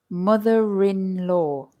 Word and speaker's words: mother-in-law: end in are however when we add the word in-law to them you will suddenly hear that we pronounce the r again listen motherinlaw father-in-law daughter-in-law and the r appears again in the pronunciation because it helps us say it quickly without pausing mother-in-law father-in-law daughter-in-law if